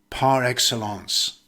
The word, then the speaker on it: par excellence: usually follows a noun or verb and it's pronounced par excellence has this video helped you then like share